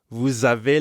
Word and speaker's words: vous avez: Because vous ends in S, we have a liaison between vous and avez.